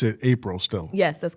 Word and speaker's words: Apriel: But it's but it pronounce it April still.